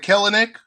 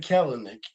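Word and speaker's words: Kelenic: worked out um nick don't pronounce the extra e it's just killing it oh what did i say you said keller nick oh nick nick all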